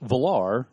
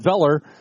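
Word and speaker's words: Velar: that'll help me so the valar or is it velor sorry the pilar is four point eight meters long it is the more sport - then evoke + did I say it right yes okay good so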